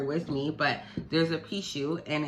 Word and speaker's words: Pixiu: And it's just a 3-legged lion, and it's called a Pishu, and it's spelled Pixiu.